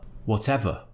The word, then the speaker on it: whatever: And don't forget, we're not pronouncing the R at the end of the word. There's no it's just whatever. Whatever. Whatever.